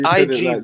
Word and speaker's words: Igbo: pronounce Igbo. you don't pronounce the Yeah, man. It's They say Igbo, isn't it? That's Igbo, it. Igbo. Is it? You pronounce it like it's spelled EBO. Igbo.